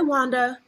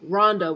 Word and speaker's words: Rhonda: yes this is Ronda oh hi Wanda I'm like do I really sound like I'm saying W like no Rhonda with an R my name is Rhonda